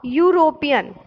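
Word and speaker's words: European: For example देखिए, इसमें लिखा है अ यूरोपियन। देखो यूरोपियन, अब यहाँ पे यूरोपियन की स्पेलिंग क्या लिखी है? EUROPAN। ई आपको क्या है? वॉवेल है ना, लेकिन यहाँ पे क्या sound is यो, यूरोपियन। यूरोपियन यानी यो वाई का साउंड हो रहा है।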